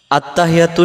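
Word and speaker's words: التحيات: ভিডিওটির মাধ্যমে ভিডিওটি শেষ পর্যন্ত দেখবেন ইনশাআল্লাহ আত্তাহিয়াতু এখন আসেন এই শব্দটাতে আমরা কি ভুল করে ফেলি আমরাদের উচ্চারণে আত্তাহিয়াতু আত্তাহিয়াতু আত্তাহিয়াতু হা জের হি ইয়ার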